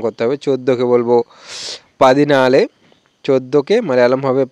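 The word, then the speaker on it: പതിനാല്: একইভাবে এখানে নালে আনজি এরকম করে উচ্চারণ করতে হবে। 14কে বলবো পাদিনালে। 14কে মালায়ালাম হবে পাদিনালে।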